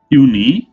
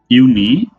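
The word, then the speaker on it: Juni: April মাই মানে মে ইউনি ইউনি উনি ইউনি মানে জুন ইউলি ইউলি মানে জুলাই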